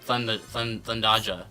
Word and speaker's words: Thundaja: No, it's Thundaja.